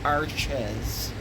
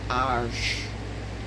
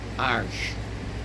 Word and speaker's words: Arches: That is not pronounced Arches. It's made in France. They started in 1492 when Columbus sailed, and I believe they're still making it the same way. It's pronounced Arches. Arches.